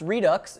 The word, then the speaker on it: RDVX: dampening and torsional rigidity rdvx pronounced Redux is a new grip